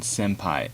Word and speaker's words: senpai: sensei its sentence AE sometimes the final n actually changes how it's pronounced based on the next sound such as if it appeals after they can senpai you pronounce it as an M instead of in before G as